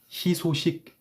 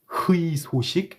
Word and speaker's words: 희소식: 희소식. I'm not gonna say 희소식.